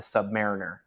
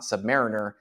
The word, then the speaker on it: Submariner: really quick is most people call it the Submariner and I flip between calling it the sub